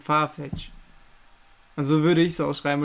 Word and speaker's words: Farfetch: Farfetch. Sagt ehrlich, das ist ein komisches Wort zum Aussprechen. Sagt jetzt ehrlich. Nee. Farfetch. Nimm einfach SCH am Ende. Das S wird aber nicht geschrieben. Farfetch.